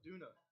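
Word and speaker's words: Döner: They call it duna. It's spelled D-O-N-E-R.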